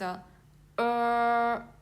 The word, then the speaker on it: er: So here, this one is er. So you need to curl your tongue.